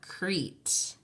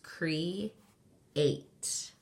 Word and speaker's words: create: are connected with vowels we don't say this is the long vowel pair this is not Crete they are two separate sounds Cree eight the other words are